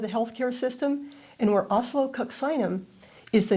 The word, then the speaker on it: oscillococcinum: Think of the word oscillate, kind of like that, oscillo.